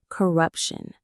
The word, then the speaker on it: corruption: is our fifth word corruption. Let's check the pronunciation. Corrupt shun. The syllables are corrupun. There is that shun sound again. The stress is right in the middle. corruption.